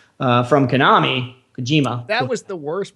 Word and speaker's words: Kojima: the departure of hideo kajami from konami kojima that was the worst pronunciation hideo kojima hideo kojima hideo kojima you can just say this one long word that's how everybody says yeah that was that was